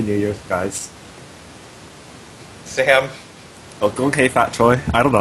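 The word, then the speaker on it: 恭喜發財: Gong hei fat choi.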